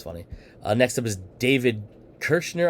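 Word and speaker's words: David Koechner: uh next up is david kirschner i believe is how you actually say his name uh he's been in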